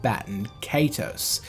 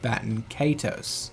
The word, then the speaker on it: Baten Kaitos: could present that would confirm the English pronunciation of Baten Kaitos, rather than the Japanese pronunciation of Baten Kaitos.